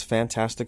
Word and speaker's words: Fant4stic: stuff like but yeah so that is 2015's fantastic four uh you gotta say it the right